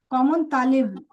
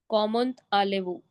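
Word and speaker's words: comment allez-vous: Common talevu. Common alevu. No, common talevu, tale. Okay. Common talevu.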